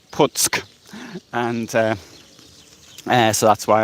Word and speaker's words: Puck: the p um the c in polish is pronounced sir so it's puts and uh so that's why i'm right now